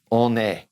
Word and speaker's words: on a: in sentence I'm a I'm gonna carry that an over because it's followed by a vowel on a alright now let's go